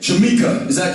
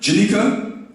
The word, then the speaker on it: Janika: Jamaica, am I pronouncing it right? Janika? Yeah, N. With an N.